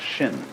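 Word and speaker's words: 心: mind in Chinese mind is um this word pronounced shin and shin is here Shin is the heart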